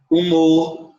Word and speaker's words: humor: A palavra humor, que tem som, que é escrito com H, mas tem som de U, né?